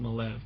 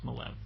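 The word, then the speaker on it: Maleev: that and it by the way it is pronounced malev cuz I met the man and I asked him and he told me it looks like Mal but it's malev so we'll just let it go at that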